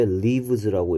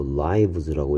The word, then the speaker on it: lives: 자, 얘를 왜 leaves라고 읽으면 안 되고 lives라고 읽어야 되는지 발음에 대해서 조심해야 되겠고요.